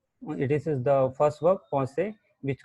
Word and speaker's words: penser: So the first one is, as you see, in English you will pronounce as penser, but it's not pronounced as penser, it's pense. It's pense, and it's called to think.